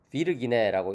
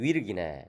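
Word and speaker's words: virginem: 그 다음에 이제 V는 U 발음이에요. 그래서 비르기네라고 읽기보다는 위르기네, 그죠?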